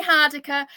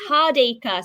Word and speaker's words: Hardacre: Yeah, it's hard eaker. So, think of me. I'm hard and I work on an acre, but I don't work on an acre.